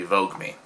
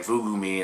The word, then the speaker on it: Voogueme: two eyes um so it's meant to be vogue me i've been saying fugu me and stuff in all